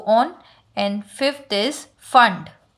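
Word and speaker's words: Pfund: And fifth is फंड. Spelling is P-F-U-N-D. P is silent.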